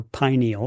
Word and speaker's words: pineal: And the 10 we're talking about are your pituitary, hypothalammus, pineal gland, or pineal depending on who taught you how to say it, thyroid, parathyroid, thymus, adrenals, pancreas, and ovaries or testing.